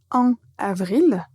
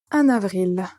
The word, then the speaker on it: en avril: ne va pas dire en avril mais disons que ça va être plus naturel de connecter ces deux mots et on va dire en avril un autre en octobre